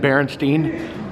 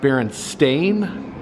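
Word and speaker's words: Berenstain: just said it wrong i think i said berenstein of course it's truly pronounced beer and stain despite what every human being on the planet earth remembers it's a little play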